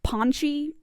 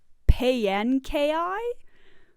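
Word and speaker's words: Paanchi: This one I often pronounce Ponchi, just because it kind of makes sense, but according to the pronunciation guide, it's supposed to be pronounced Payankai?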